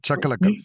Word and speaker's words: Chakalakal: Chakalakal, is that that's the right way to say it, right? Chakalakal. Think about boom shakalaka.